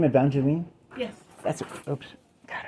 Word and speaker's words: Evangeline: racer horse race place oh really do you pronounce it evangelin or did I pronounce it wrong evangelin oh okay I I I I I accidented the e well some people go Evangeline right I don't know I like that because